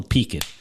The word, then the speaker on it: peaked: "You're looking a little peaked." A little what? Peaked. Peaked? Peaked. A little flush, a little not right, a little gray. Spell that? What? Can you spell peaked? P-E-A-K-I-D. Peaked. P-E-A-K-I-D? Yeah, peaked. Peaked.